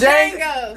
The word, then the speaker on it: Django: of like what was django what was django did i say that right i think the d is silent it's jango whatever movie that is